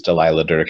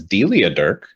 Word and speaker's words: Delilah Dirk: comfort in knowing that the series Delilah Dirk is routinely mispronounced as Delia Dirk by just a broad like everybody makes that miss.